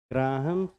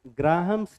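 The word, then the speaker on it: Graham: of diffusion और effusion ग्राहम ग्रामस नहीं होता है एच साइलेंट होता है ग्राम्स लफ डिफ्यूजन और फ्यूजन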